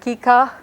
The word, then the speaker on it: kika: And then for K we have kika, which means snake. K is very much like English K.